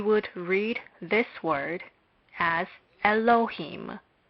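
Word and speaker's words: אלהים: into the following syllables first a lab is not pronounced but we must remember that it is a consonant our lab is not pronounced but it is unquestionably a consonant thus it would appear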